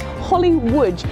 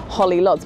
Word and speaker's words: Łódź: a little place called Holly Łódź, and if you see that written down, it looks a bit odd. It looks like Holly Lodz, but if you pronounce it correctly as Holly Łódź, it makes a lot